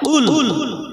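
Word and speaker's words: قل: আর যদি কফ লাম পেশ কুল, দুনক্তাওয়ালা কফ, এটা মোটা করে গলার হুড়কুনির ওখান থেকে উচ্চারণ করতে হয়, কুল কুল এই আওয়াজ আসে।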